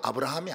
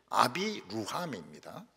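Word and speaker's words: אברהם: 아비 루함이라면 진짜 발음은 아브라함이 아닙니다. 아비 루함입니다.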